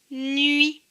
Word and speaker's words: nuit: Donc, cela donne N avec UI, nuit, nui, nuit. Le T ne se prononce pas parce qu'il est écrit en bleu. Donc, le mot, c'est nuit.